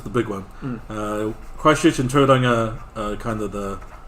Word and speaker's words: Tauranga: Christchurch and Tauranga are kind of the How do you say small it? Tauranga? Tauranga.